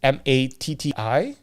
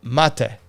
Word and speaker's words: Matti: Anyways, his name is Matti, so it's Matti. But interestingly enough, he has his brother now working with him, and his brother calls him Mate. Oh. So the pronunciation is quite different, which is very interesting.